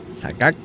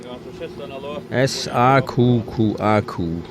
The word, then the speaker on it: Saqqaq: Saqqaq. S-A-Q-Q-A-Q. Så vi må bara välja allt annat här.